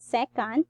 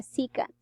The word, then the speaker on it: secant: is called a c cut okay it's not second it's c secant you can check your dictionary on that to check on the pronunciation of this word secant so again a